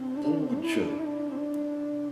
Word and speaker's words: puja: como JA não é jamais lido como já, mas sim J. O som já, G, Gi, Jo, Ju, não existem esses sons dentro do sânscrito. Existe J, Ji, Ji, Jo, Ju. Exemplos de palavras que utilizam esse som são japa. Japa é a repetição, por exemplo, de um mantra, né? Nós ficamos repetindo, murmurando um som de um mantra várias vezes, se chama japa. Outra palavra, puja.